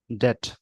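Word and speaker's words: debt: जैसे एक वर्ड है डेप्ट, लिखते हैं पढ़ते हैं डेट, बी यहाँ भी साइलेंट होता है।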